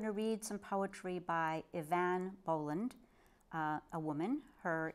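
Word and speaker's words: Eavan: And finally, I'm going to read some poetry by Ivan Boland, uh, a woman. Her name, first name is spelled E Van, and it's pronounced Ivan.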